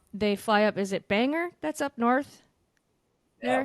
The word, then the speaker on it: Bangor: Is it Bangor? That's up north Yeah, there. well, you said that very well. I did. You pronounced it perfectly.